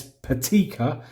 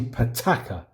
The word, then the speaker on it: Pitaka: do I've just realized I've been pronouncing it wrong I think I've been saying it's patty Kerr it's actually pitaka petechia pitaka tomato Tamar